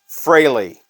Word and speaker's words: Frehley: revered Legends of guitar Ace Frehley I believe is how you're actually supposed to say that now this is one